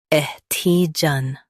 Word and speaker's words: adhesion: Ed, he, jeune, ADHESION. Stress he and keep jeune light.